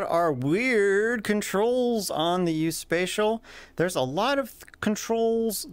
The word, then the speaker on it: USPSAECIAL: It's pronounced USPSAECIAL.